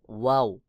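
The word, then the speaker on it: واو: হবে যেমন নুন নুন এরপর ওয়াও দুই ঠোঁট গোল করে ওয়াও উচ্চারণ হবে দুই ঠোঁট যখন গোল হবে তখন মাঝে ফাঁকা থাকবে দুই ঠোঁটের মাঝে ফাঁকা থাকবে বাহিরের দিকে হালকা বাতাস বের হবে যেমন ওয়া এরপরে রয়েছে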